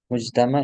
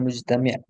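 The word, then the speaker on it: مجتمع: Mujtama itu apa? Rakyat atau masyarakat. Nah, ketika antum dapat di kitab, maka bacanya seperti itu juga mujtama, bukan mujtami', fi mujtama dalam masyarakat.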